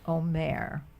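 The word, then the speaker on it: אומר: first one oh om so the emphasis is on the o no om the accent is on the last syllable okay this is not an Omar like counting the Omar this is Omare what's the root say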